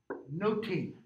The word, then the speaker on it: nothing: to my purpose noting the word nothing in shakespeare's day is pronounced like this no team okay so let's pause